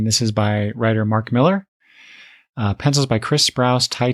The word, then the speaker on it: Millar: As far as I know, it's still pronounced Miller, even though it's spelled A with an A.